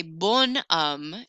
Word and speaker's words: bon homme: I'm going to say bon homme, and I'm going to pronounce that N a little bit more.